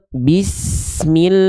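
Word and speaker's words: بسم الله: Perhatikan vokal i, jadi bukan ke samping. Bismillahi, enggak, tapi ke bawah. Bismillahi.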